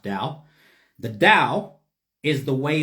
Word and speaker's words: Tao: the dao or the tao tao the dao pronounced dao the dao is the way of the universe